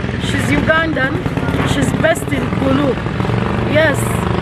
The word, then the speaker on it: Gulu: There is a lady, she's Ugandan, she's based in Gulu. Yes, I've been told we pronounce Gulu wrong. It's supposed to be Gulu, not Gulu.